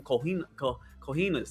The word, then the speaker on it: cojones: I mean, it takes some some cojones. Is that right? Did I say it right? cojones, yeah, Cojones.